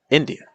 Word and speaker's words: India: So like India, India, India. Notice it's not India or India, it's India. Notice how the stress pattern completely changes the experience of the word.